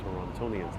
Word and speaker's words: Torontonians: So Funky Child says it's ton tonians tonians torontonians thank you so much